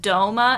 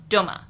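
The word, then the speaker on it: Dōma: So again, it's just supposed to say that it's to be pronounced doma and not doma.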